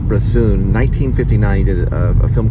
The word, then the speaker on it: Bresson: o n there's probably five different ways to pronounce his name um I believe his first name is Robert and it's broon 1959 he did a film called Pig pocket